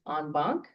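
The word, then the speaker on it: en banc: can hear a case on bonk, and that's not spelled that way, but that's how it's pronounced.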